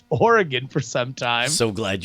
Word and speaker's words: Oregon: one to read this when referring to the state the last syllable should be pronounced gun when talking about the city in Wisconsin it should be pronounced gone how about you gun